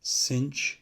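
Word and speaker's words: cosh: is called hyperbolic cosine sometimes this is pronounced cinch of t as opposed to just sine of t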